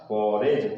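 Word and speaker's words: forage: न्यायाधीश और फॉरेज, इसमें भी कॉम्बिनेशन क्या बन रहा है, डी और जी का बन रहा है, इसलिए डी यहाँ पर साइलेंट लेटर है, इसको प्रोनाउंसिएशन नहीं किया जाएगा। तो क्या हो गया इसका, फॉरेज।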